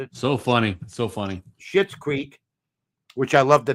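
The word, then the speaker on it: Schitt's Creek: She won for Shitz Creek. She won. That's how you pronounce it, isn't it?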